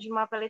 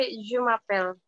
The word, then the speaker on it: Je m'appelle: Cuma kalau misalkan pronunciation bener-bener pronunciation aslinya itu baca Jumapel. Jadi nya tetap dibaca.